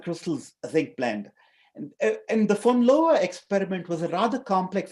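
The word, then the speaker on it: von Laue: demonstrated by this gentleman fowa uh it's pronounced fowa in 1912 um and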